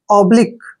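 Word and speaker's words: oblique: ब ब पढ़ते हैं और एल आई क यू इ को उच्चारण हम लिक करते हैं लिक लि क्यों नहीं पढ़ना है लिक ओनली लिक ऑब्लिक ऑब्लिक ऑब्लिक होता है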